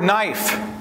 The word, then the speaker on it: knife: We pronounce the word knife, but we spell it with a K.